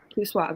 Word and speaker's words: Q Swab: I think like is it Q Swab or Q Sway? Q Swab, right? Q Swab.